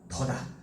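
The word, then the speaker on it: 地: 그 다음에 우리 부사어 자리에 땅짓자가 이렇게 쓰이면 얘는 발음이 띠가 아니라 얘도 뭐다? 더다.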